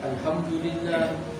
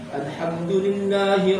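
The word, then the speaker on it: الحمد لله: Alhamdulillah. Kalau orang umum mungkin menyangka itu nggak salah. Alhamdulillah itu secara pelafalan sudah salah.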